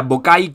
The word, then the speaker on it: Bockaj: europa compren apretar boca y se pronuncia vocal como si la jota fuera una y latina y es un jugadorazo